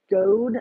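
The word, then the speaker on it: Guede: nightmare and the guy Rudy go I think is how you say it guu E de um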